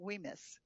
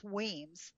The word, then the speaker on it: Wemyss: But I met several of so when you go to I was pronouncing it Wemyss, but it's Wemyss. The Y is not pronounced.